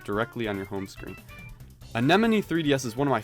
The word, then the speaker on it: Anemone: the dumb one or is the name of this app literally based on the plant in the sea you know like the